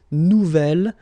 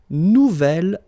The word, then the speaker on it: nouvel: Nouvelle, phonetically you pronounce it like the feminine version, but then you write it N-O-U-V-E-L. Okay, we'll see. This is the feminine version, so it goes like double L-E. Okay, phonetically it is the same, but you write it differently.